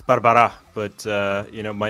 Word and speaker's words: Barbará: I'm going to say Barbara close it's Barbara but uh you know